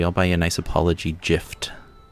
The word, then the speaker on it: GIF: gifts right and yeah i pronounce it with a soft g fight me um or